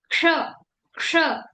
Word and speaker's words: क्ष: जैसे संस्कृत में इसको जैसे कुछ लोग क्ष प्रोनाउंस करते हैं। क्षत्रिय कच्छ ऐसे बोलते हैं। लेकिन ये सही प्रोनाउंसिएशन नहीं है। संस्कृत में इसकी प्रोनंसिएशन क्ष ऐसे प्रोनंसिएशन है।